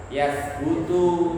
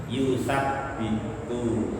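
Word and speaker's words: يُثَبِّتُ: Alladzina amanu itu isim mausul dan silah mausulnya fi mahali nasbin maf'ulun bi, berarti fiilnya mutaaddi, maka membacanya bukan yasbutu tapi yusabbitu.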